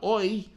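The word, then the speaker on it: Oyster: So instead of calling it the almost said it, the OI. Rhymes with boister.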